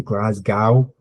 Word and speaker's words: Glasgow: on my way to Glasgow and yeah the the other guy just said is pronounced glas go just GL go there is a very